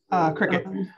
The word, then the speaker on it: Cricut: Is that how you say it, Kevin? Cricut? Cricket. Cricut, okay. It's spelled C-R-I-C-U-Cut, C-U-T, sewing machine and 3D printer.